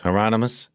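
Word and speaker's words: Hieronymus: Heronmous rhymes with anonymous."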